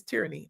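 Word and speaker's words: Terrine: Her name is uh it's pronounced Tyranny, but it's T E R R I N E, but her name is Tyranny.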